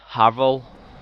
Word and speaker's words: Havel: In this secret wall, anyway, is where you get the Havel. So that's how it's pronounced.